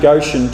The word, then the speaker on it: Goshen: But you don't want to stay in Goshen too long, because it rhymes with go soon.